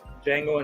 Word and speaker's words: Django: The D is silent. Django Unchained.